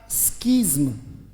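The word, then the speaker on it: schism: आई सी right तो जो पढ़ा जा सकता है मैंने कहा पहले बहुत जरूरी है बेटा पढ़ा जाएगा स्कज म अगर इतने ही वर्ड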